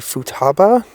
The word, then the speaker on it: Futaba: And I did mispronounce the area. It's actually Futaba, but you understand what I mean.